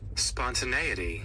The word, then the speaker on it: spontaneity: to I get to look at how it's pronounced and what it even means. Spontaneity.